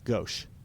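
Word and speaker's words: gauche: But it's goch. Oh, I did not know that. Gosh.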